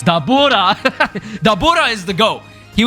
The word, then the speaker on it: Dabura: Dborah was al uh Oh, I said I said it wrong. No, it's Dabura.